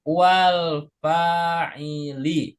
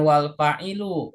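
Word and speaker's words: الفاعلِ: Minal fi'li wal fa'ili. Perhatikan cara bacanya wal Minal fi'li fa'ili. wal fa'ili. Ya, minal fi'li wal Wal fa'ili fa'ili. Bukan wal fa'ilu ya, bukan. wal fa'ili. Jadi yang betul wal fa'ili.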